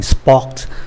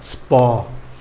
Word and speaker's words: sport: Nhiều người vẫn quen cái phát âm của tiếng Anh sport, sport, sport. Chữ T không có đọc ạ, sport.